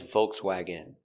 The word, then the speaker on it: Volkswagen: Pronunciation. Volkswagen. Vv. Vibration with your teeth. VV O V C-V s WW open sound W vokesw AW vokwag Swag. Volkswagen. Volkswagen. Volkswagen. Stress on the first syllable.